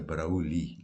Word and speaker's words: Broglie: It's spelled de Broglie with a Broglie, but the guy on YouTube pronounces it de Broglie, like a silent G.